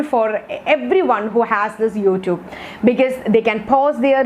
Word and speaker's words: YouTube: next step is youtube i heard even some people pronouncing this term or this app as youtube you're not using that long vowel in between that word but the actual pronunciation of this app is youtube youtube so you have to use the long vowels okay not the short